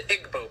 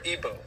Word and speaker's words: Igbo: You have the Igbo people, or Igbo, pronounced either way.